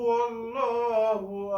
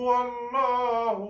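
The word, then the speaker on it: الله: যে আল্লাহ নাম ডাকি আল্লাহ নামের ডাইনে যদি জবর থাকে তখন ল উচ্চারণ হবে আল্লাহ আর লবজে আল্লাহর ডাইনে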